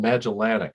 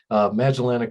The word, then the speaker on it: Magellanic: Yeah, they're called Magellanic. I know it's kind of a weird, what you put the accent on the syllable, so where you put it. So understandable. Magellanic clouds, yes, they are.